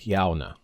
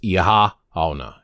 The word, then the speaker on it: Oíche Shamhna: Hearing people say it, though, it sounds like Yauna. That's what it sounds like to me. But I guess you could draw out the first part a little bit with Ihahhauna. Ihahhauna. Ihahhauna. Yauna is how I've been saying it. All right. Please do not say Shamhna.